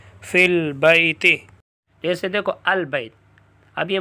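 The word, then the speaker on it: في البيت: حمزۃ الوصل کہتے ہیں۔ تلفظ سے ساقط ہو جائے گا، تلفظ سے۔ پھر اس حمزہ کے ساتھ کبھی واو بھی گر جاتی ہے جیسے وَأَسَرُّ النَّجْوَىٰ، کبھی یا بھی گر جاتی ہے جیسے فِي الْبَيْتِ، جیسے دیکھو البیت، اب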